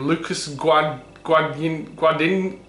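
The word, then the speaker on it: Luca Guadagnino: Remake by, how the hell do you pronounce his name? Lucas Guadagnino.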